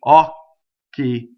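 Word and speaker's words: occhi: The first syllable on the stress of the vowel is open, okay?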